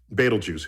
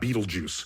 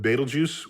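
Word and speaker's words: Betelgeuse: Yeah. It's it's actually Arabic. Oh, is that And maybe I'm not even pronouncing it right, but it's definitely not Beetlejuice.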